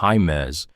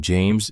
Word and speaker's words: James: He pronounced the middle name like it was Spanish. He said Jaimez instead of James, and Marin felt the wrong syllable land in her chest like a small, stupid hammer.